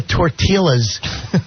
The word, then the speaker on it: tortillas: And he goes, I think I'm going to get the tortillas. I'm like, he's in his for How do you go through life for over 40 years pronouncing silent L's, you dummy?